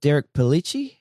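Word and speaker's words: Derek Pellicci: is um correct me if I say his name wrong but um is it Derek pelich is that how you say his name that's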